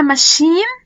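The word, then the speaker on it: machine: والثلاث كلمات دولت بتتنطق شه لأن هم متاخدين من أصل فرنسي. يعني أنا هنا بقولها ماشين، أوكي، مستاش وشيف.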